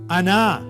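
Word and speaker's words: أنا: अना देखिए अलिफ के ऊपर फतहा। नून के ऊपर फतहा और उसके बाद लॉन्ग वोवेल। जिसको कैसे प्रोनाउंस करेंगे? अना।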